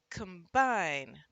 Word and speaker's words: combine: When the second syllable is punched, the first syllable often gets the schwa sound here. So it's combine.